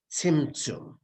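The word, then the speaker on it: צמצום: In English, Tzim, Tzum. Tzimtzum.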